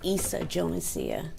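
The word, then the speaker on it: Yssa Jonesia: Lisa Jonicia. Lisa Teresia. Pronounce your name for me. It's Issa Jonesia.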